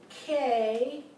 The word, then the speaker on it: know: You have the word K-N-O-W. The diphthong would be the O-W. So now you have the word know, and it's pronounced like flow, or grow, or sow, right?